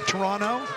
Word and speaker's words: Toronto: Sorrento, sophomore from Toronto. Don't pronounce the second T.